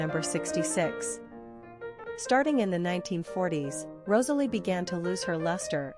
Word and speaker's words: Rosalie: Pronunciation, Rosalie, Rosalie.